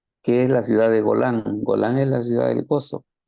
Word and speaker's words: Golan: es la ciudad de golan golan eh se lee igualito en el hebreo eh Y golan lo